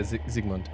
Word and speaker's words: Zsigmond: It was Yeah, Zygmunt.